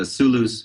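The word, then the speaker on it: Sooloos: assigned me was the Soolooz music server. And Soolooz is spelled Soolloos, which a lot of people miss.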